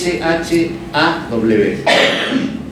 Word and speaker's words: Shaw: Se escribe, el apellido es S-H-A-W. Shaw.